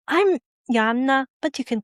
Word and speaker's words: Joanna: He arrived confident, skipping pleasantries, immediately calling me Joanna. I'm always slightly irritated when people use the English version of my name. The original is pronounced with Y and a double N, and it's Joanna.